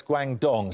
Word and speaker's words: Guangdong: I'm not making Can I nominate you for these pronunciations? Guangzhou, yeah. Nominate Wang. Guangzhou? No, it's Guangdong.